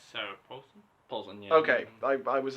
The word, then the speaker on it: Paulson: No, it's Sarah Paulson. Paulson, yeah. Okay, I was like... Oh. Rhymes with Adrian Coulson.